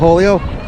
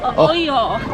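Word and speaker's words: hoyo: Oh, oleo? Oleo? Oyo.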